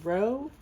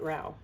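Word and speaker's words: Rowes: we pronounce our name Rouse but it's r-o-w-e-s um everybody else in the world pronounces our last name Ro and we pronounce it Rao just like this brand maybe we need to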